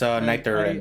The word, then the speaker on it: Niter: It's Niter. I just As in it's Niter. Niter. Even though it's spelled like I said Nitri.